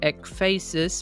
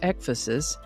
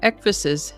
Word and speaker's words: ecphasis: I would have pronounced it ecphasis, but I found several pronunciation guides that indicated it is pronounced ecphasis, sort of like emphasis only with an ec instead of an m. So, ecphasis it is.